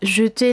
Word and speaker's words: jeter: Entonces, aquí el cambio vendrá con la pronunciación, debido a que las es en medio de las palabras en francés tienden a ser muy débiles. En ocasiones podríamos pensar que estas desaparecen, pero no es que desaparezcan, es que el sonido